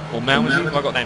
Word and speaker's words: Malmedy: he has another chance as he comes around Melody or Malmedy. Have I got the name wrong? Malmedy.